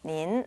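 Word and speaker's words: 您: 발음은 바로 닌이라고 했습니다. 닌, 네.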